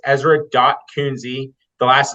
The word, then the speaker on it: Kuenzi: the last name so uh it's Ezra dot coonsie the last name is spelled k-u-e-n as in Nancy Z as in